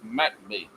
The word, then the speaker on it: McBee: You got to draw out the Mac and the B, but it's all one word. It's big M, little C, big B, E, and the C's at the bottom, so it's pronounced McBee.